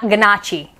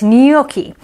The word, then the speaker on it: gnocchi: english oh no uh g is for gnocchi that's right you're going to see this on a menu at an italian restaurant and you're going to want to say not ganache and it's gnocchi the gnome yells waiter